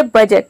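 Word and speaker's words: budget: इसमें भी देखिए डी है, डी साइलेंट है क्योंकि डी के बाद जी ई आ रहा है और डी को हम प्रोनाउंस नहीं करते हैं।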